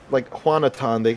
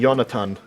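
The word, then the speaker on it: Jonatan: That's probably like one of the only names that we will pronounce the J as a G in Spanish. Because the J is silent. Well, it's not silent, it's pronounced as an H in Spanish. Yeah. But yeah, even when I was in Spanish, my professor never called me like Juanatan. She called me Yonatan.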